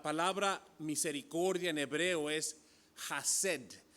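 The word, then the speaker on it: חסד: Sabes que la palabra misericordia en hebreo es hased. Ya sé que se escribe chesed, pero es hased. En el idioma hebreo siempre usan eso de como aclarar tu garganta, ¿no?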